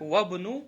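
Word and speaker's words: وابن: Других Ибн и исм и какие-то еще, ну, мало, очень мало слов таких, которые посередине она не читается. Вот, например, сейчас у нас исм и ибн есть. Получается, как говоришь? Вабну, да?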